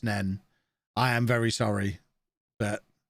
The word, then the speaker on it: Nene: A word that is spelled N-E-N-E. Is that pronounced Neen or Nen? I'd be more likely to give you Nene rather than Nen. At least then you're acknowledging that final letter.